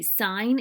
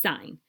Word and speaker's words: sine: you can use sohcahtoa with right triangles okay sine is pronounced sine not sin even though when we abbreviate it it looks like sin you don't want to say sin because then it sounds silly it's sign the next is cosine and it is previous